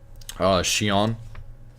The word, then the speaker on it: chiens: So if it's chien with an S, remember you don't pronounce the S at the end, so I'm going to talk about plurals later in another video.